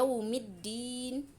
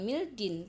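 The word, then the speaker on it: يوم الدين: Kemudian dalam Surah Al-Fatihah, di sini kita punya yaumiddin, bukan mildin, tapi yaumiddin , ada shaddah, alif lam bertemu dengan huruf Shamsiyah, yaitu da, apakah ada di sana?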